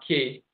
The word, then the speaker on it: Ki: tradition is called key Ki pronounced key and that's the same